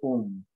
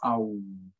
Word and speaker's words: Om: And the most basic echo of the universe is said to be that of Om, more correctly pronounced Aum.